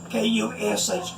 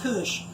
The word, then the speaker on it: Kush: That's K-U-S-H, Kush, rhymes with push.